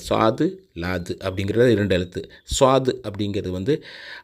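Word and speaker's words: صاد: எழுத்து சுவாது அப்படிங்கறது வந்து அதாவது சன்னு சொல்லாம இந்த சோ அப்படின்னு தமிழ்ல சொல்லுவோம் இல்லையா சொம்பு அப்படின்னு அந்த மாதிரி அப்படி உள்ள ஒரு உச்சரிப்பு அதாவது ஸ்வ அப்படிங்கணும் ச அப்படின்னு மொத்தமா சொல்லாம ஸ்வ அப்படிங்கிற மாதிரி சொல்லணும் அதற்கு அடுத்து உள்ள லாது அதே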